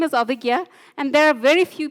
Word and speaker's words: Abhigya: study people used to call me Abigail and I used to feel very offended because I'm not abigil I'm aiga right so I shortened